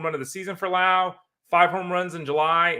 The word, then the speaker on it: Lowe: of the season for Lao five home runs in July and you know Lao is somebody it's spelled low but his name is pronounced Brandon Lao is one of the